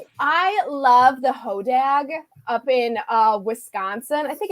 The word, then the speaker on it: hodag: I always pronounce it hodog, but like my in-laws are from the Midwest and they're like, Amanda, you're pronouncing it wrong. It's hodag.